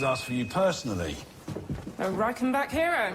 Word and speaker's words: Reichenbach: A Reichenbach hero. Actually, it's pronounced Reichenbach.